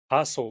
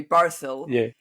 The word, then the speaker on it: Parcl: passo by the way I think it's pronounced Paro like par yeah okay par the name the name parel yeah yeah yeah sorry I'm used to bark so it's kind of par out okay parcel thank you L